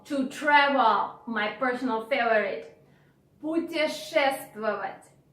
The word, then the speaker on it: путешествовать: I understand that the verb is long and challenging because of this sh sound. Путешествовать. Путешествовать. And moreover, we have some consonants in a row. This also can be a bit difficult.